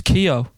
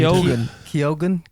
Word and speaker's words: Keoghan: I thought it was Keogh. Don't get me to read it. Keoghan. Keoghan. Keoghan, actually, it probably is.